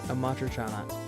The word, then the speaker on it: Amatriciana: I told him, like, this is how you pronounce it. It's Bucatini Amatriciana.